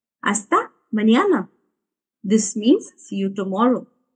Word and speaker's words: mañana: And the next one is hasta mañana. Hasta mañana. Be careful with this N. There is a small accent on it, which sounds like when you put N and Y together. Nyo. Hasta mañana.